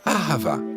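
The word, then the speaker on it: אהבה: On le prononce ahava.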